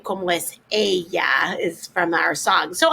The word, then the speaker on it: ella: Ella is she. Remember, we don't pronounce it ella, it's ella. It's not ella, it's ella.